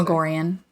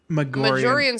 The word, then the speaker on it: Magorian: Magorian. I don't trust audiobook pronunciations really. No, for sure, but Magorian sounds good. Majorian sounds too much like margarine.